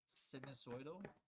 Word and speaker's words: sinusoidal: Sinusudograph, or I don't know how to say it. Those of you guys that get pronunciation can probably teach me how to say it. It's sinusoidal. Yeah, sinusoidal functions.